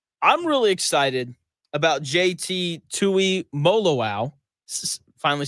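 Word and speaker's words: Tuimoloau: But I'm really excited about JT Tui Molo.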